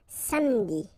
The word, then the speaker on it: samedi: Okay, same thing here, appeler, but then you get appeler, appeler, and then samedi.